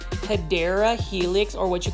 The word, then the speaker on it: Hedera helix: This is a Hydra helix. Or the correct way to say it is Hedera helix, or what you call the English ivy.